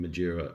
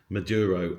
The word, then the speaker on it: Maduro: going in and getting Madura M I'm always saying his name wrong, please forgive me. Maduro and his wife.